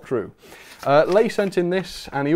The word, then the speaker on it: Lay: I don't know how I would have said it usually, probably Lie or something, but it's Lay, apparently.